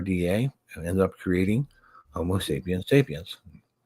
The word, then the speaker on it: Homo sapiens sapiens: and ended up creating Homo sapiens sapiens, which is the correct way to say that, by the way.